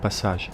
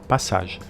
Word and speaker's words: passage: of these old covered passages that offer a glimpse into the city's bygone era. By the way, I hope you don't mind me pronouncing it the French way, passage, instead of passage.